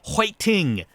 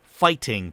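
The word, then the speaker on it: 파이팅: You know, it's an English word, but it's used incorrectly, and it's more often than not pronounced "hoiting" rather than fighting because there's no F sound in the Korean alphabet.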